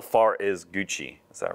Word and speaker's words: Gucci: How far is Gucci? Is that right? Gucci? Yeah, Gucci.